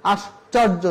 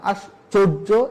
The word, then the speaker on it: আশ্চর্য: চর্যার জায়গায় বলতে হবে চর্যা, আশ্চর্য না আশ্চর্য, এভাবে উচ্চারণ করতে হবে।